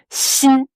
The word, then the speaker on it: 心: Sin h sin sin. Ouais X I N. Premier ton. Ouais. Si. Donc ce X, prononcez-le comme un ce sin, un peu comme un chat qui rencontre un autre chat.